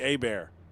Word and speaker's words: Herbert: So what's funny about Jonathan Herbert is if he was from Louisiana, his name would not be Herbert. It would be Abear. That's how that's pronounced in Louisiana.